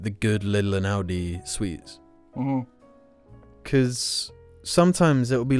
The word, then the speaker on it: Aldi: Did I say Audi? Well, it sounds similar, huh? Aldi. Yeah. I'll say it like an American. Aldi.